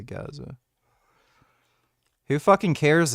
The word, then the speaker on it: Gaza: It's more like Gaza. It's Gaza. Some people from Gaza are Arabic-speaking countries say Raza, and in Israel they say Yaza. I only hear non-Arabic or non-Hebrew speakers say Gaza.